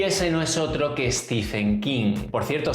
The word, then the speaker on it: Stephen King: no es otro que stephen kim por cierto se ve que en realidad se pronuncia steven king bueno yo esté bien